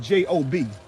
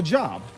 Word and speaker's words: Job: Job, J-O-B. What else does that spell? Job. But Job, job, same three letters, but different pronunciations.